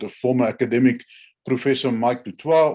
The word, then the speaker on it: du Toit: But on October 2013, the South African court convicted a former academic, Professor Mike du Toit, or du Toit as we pronounce it here, for treason.